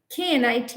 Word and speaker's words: knit: of the mirror and say knot not not not okay knit knit nit nit there are several words